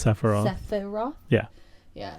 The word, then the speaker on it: Sephiroth: I can't pronounce it. Yep, it's Sephiroth.